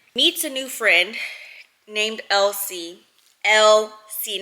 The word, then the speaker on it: LC: how she spells it and that's how she pronounces it so 17-year-old Megan meets a new friend named LC LC not LC like e l s i